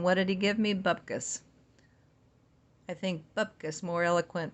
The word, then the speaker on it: bupkis: Bupkis rhymes with mopkiss or bubkiss. To rhyme with put this, bopkiss.